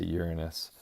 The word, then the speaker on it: Uranus: Uranus and Neptune and yes you say Uranus not the other pronunciation there used to be